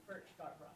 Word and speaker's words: Furchtgott-Roth: And help me with the pronunciation. Furchtgott-Roth, did I get close? Absolutely, Furchtgott-Roth.